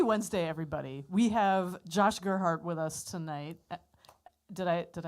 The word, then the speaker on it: Gerhardt: We have Josh Gerhardt with us tonight. Did I pronounce your name? Gerhardt. Gerhardt. Yeah. Gerhardt.